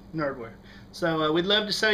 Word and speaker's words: GNerdwear: The G is silent. Nerdwear.